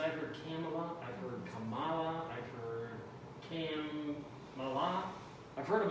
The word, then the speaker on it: Kamala: what she recommends is just think of comma you know like a little bit right comma and add allah this pronunciation of it